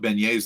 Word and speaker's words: beignet: That's why he put beignets there. Yeah, I know. You're thinking, wait, why the fuck do the French not pronounce their T's? Because they're too good for T's. So it's beignet.